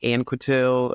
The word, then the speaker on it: Anquetil: I feel like I I pronounced my last name kind of both ways I used to say more like anail and then my fiance is like just say it the French way like that's your last